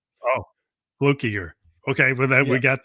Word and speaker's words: Fluckiger: could pronounce from fluke it's fluke instead of flu flukiger yeah oh flukiger okay well then we